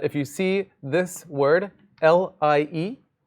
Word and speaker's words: Lie: see this word, L-I-E, this is somebody's name. This is a capital L, and it is pronounced L-E-E. This is a Lie group. If I hear any of you guys in my office hours calling it a Lie group, it's going to be a problem.